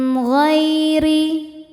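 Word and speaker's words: غير: Min ghairi ghai ada harfulin atau huruf lin sebab ada ya sukun sebelumnya baris fathah. Cara bacanya dilembutkan atau dilunakkan. min ghairi. Huruf ro dibaca secara tarqik karena ro berharakat kasrah. Cara bacanya ro dibaca dengan tipis.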